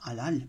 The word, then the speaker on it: halal: Conclusion, avec le nombre 13, qui est un code, on retrouve du mot halal, en français il prononce halal, puisque le H c'est un H muet, et qu'on retrouve le mot Allah, qui est un des noms de Dieu.